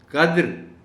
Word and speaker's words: قدر: عالم آیا ہے لفظ۔ قدر اور قدر، یہ لفظ چونکہ بہت زیادہ استعمال ہوتے ہیں، ہمیں ان کے تلفظ میں فرق رکھنا چاہیے جو ہم نہیں رکھتے۔ یہ یاد رکھیے گا اور بچوں کو بھی بتائیے گا کہ قدر جس میں دال پر جزم ہے، اس کے معنی ہیں